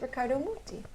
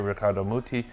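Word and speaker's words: Riccardo Muti: at the age of 14 you played with Ricardo miti richardo no I'm joking I'm joking this go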